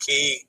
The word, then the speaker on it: cay: C-A-Y is pronounced key properly.